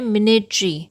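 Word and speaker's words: minatory: इसका सही प्रोनाउंसिएशन है मिनेट्री।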